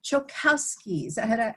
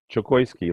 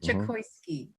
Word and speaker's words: Chokoisky: On today's episode of Interviews with the Gurus, we have Chokowski. Did I say it right? Chokoisky, like chocolate and whiskey. Chokoisky.